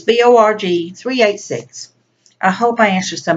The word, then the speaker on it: borg386: these questions for you B ROG 386 more 386 and I already pronounced that wrong but it's Bo rg3 86 I hope I answered